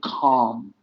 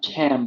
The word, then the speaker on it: calm: The word calm, not calm, but calm.